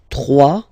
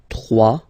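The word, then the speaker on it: trois: 3. Final S not pronounced. 3.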